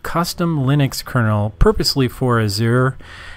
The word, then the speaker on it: Azure: Linux kernel purposely for Azir not sure how somebody else says that but that's essentially how I pronounce it I know that many